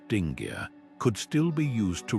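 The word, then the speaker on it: dingir: A sign like letter 12 450 which originally meant god in Sumerian pronounced dingar could still be used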